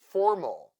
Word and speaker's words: formal: Formal, Let's count the syllables here. Formal. We have two syllables and the first one is stressed. Therefore, letter A in the second syllable sounds mol, formal.